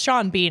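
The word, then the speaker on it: Sean Bean: sha Bean or sha bon no well it's Shawn Bean is his name but I say it needs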